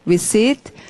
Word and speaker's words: receipt: 영수증 피 발음 안 합니다. 자, 소리, receipt.